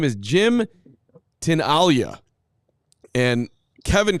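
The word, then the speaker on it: Tinaglia: i n a g l i a it's pronounced tin Alia so I am right that's fanatically okay spelling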